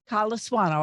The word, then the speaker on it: Colasuanno: Colasuanno, I think I pronounced it right.